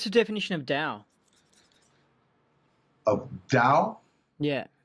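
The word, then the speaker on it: tao: definition of dao of dao yeah t-a-o is how you spell it the first thing you learn about dao the chinese will pronounce it dao like d-o-w is that you can't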